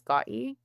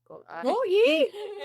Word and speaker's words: Gotye: Also, I'm tone deaf so The artist I actually didn't look up how to pronounce his name. I think it's Gotye. Gotye.